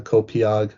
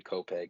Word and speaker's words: Copiague: I'm pronouncing this correctly, Copiague in Harbor, New York. So talk about Yeah, growing up there and and how did you start playing hockey? yeah. So it's actually Copeg, New York.